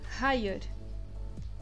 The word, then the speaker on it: hayır: A pronúncia dessa palavra, se vocês podem perceber, nós temos uma letra diferente, que é um I sem o pingo. É uma letra diferente, ela não é o I que a gente conhece, porque